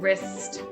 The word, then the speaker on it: wrist: If you're thinking about when does that silent W happen, well, it happens at the beginning of words. Not every word, just a few, like right and wren and wrist.